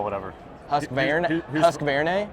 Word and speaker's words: Husqvarna: So, and Husqvarna, is that how you want me to pronounce it? Yeah, you can call it whatever. Husqvarna? Husqvarna? Husqvarna.